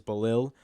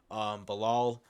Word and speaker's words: Belal: I believe it is Belal. Belal, not 100% sure.